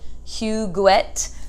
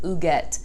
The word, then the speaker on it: Huguette: And every time I see the name, it looks like Huguette, but she's French. And in the book, they say what the pronunciation is, and they say that it sounds more like Huguette.